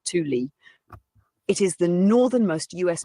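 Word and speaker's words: Thule: a military base in Greenland known as THU Air Base pronounced T Lee it is the northernmost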